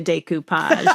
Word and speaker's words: decoupage: Here's how you pronounce it. It's decoupage.